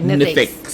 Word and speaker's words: NITheCS: So NITheCS, our institute, and we pronounce it NITheCS almost like SpaceX. Right, okay, NITheCS.